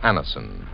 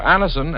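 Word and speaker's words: Anacin: This program is brought to you by the makers of Anison, the remarkable tablets that bring incredibly fast and effective relief from the pain of headaches, neuritis, and neuralgia.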